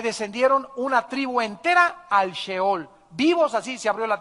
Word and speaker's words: Sheol: a un lugar que en el hebreo se escribe Sheol, S-H-E-O-L, Sheol.